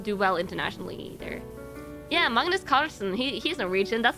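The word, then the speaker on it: Magnus Carlsen: we do not do well internationally either yeah Magnus Carlson he's Norwegian that's like it's literally it's pronounced Magnus Carlson in in Norwegian that's how his name is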